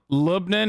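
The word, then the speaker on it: لبنان: in in greek dude lebanon libnan is actually close to the arabic pronunciation australians in the chat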